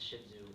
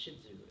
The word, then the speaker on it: Shih Tzu: like owning one personal so what is a shih tzu well I should do is a toy sized